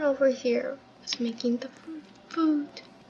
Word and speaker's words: pho: I believe you pronounce it like pho. Foo. Pho. You either pronounce it like pho or foo.